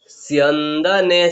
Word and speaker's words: स्यन्दने: ततः श्वेतैर हयैर युक्ते महति स्यन्दने, सो आधा उसके बाद में क्या है, यो है तो क्या बोला हम लोग, सियो, सियो। उसके बाद में नो आधा है तो क्या बोला, स्यन, स्यन। उसके बाद में दो नो एक ही मात्रा, स्यन्दने स्थितौ।